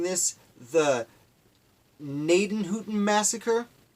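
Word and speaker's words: Gnadenhutten: probably mispronouncing this the naiton Hooton massacre I believe that gee at the beginning is silent but there was a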